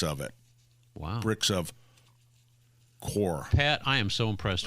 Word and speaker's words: coir: Is it called the core? COIR. That is absolutely right. How do you pronounce it? Core.